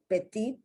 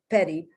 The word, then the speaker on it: petite: It keeps its original pronunciation, petite, and then there's I guess that's an English pronunciation of the word petite, petty.